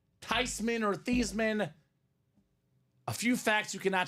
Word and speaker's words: Theismann: It's actually pronounced Theismann. Everyone's been saying it wrong the whole time, Dom. So whether you want to call him Theismann, or Theismann, a few facts you cannot take away from this guy.